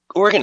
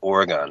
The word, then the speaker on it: Oregon: And on the 3rd time, I'm like, dude, you're pronouncing that wrong. Yeah. And I'm like, I only bring it up because I know people from Oregon really don't like it when you call it Oregon.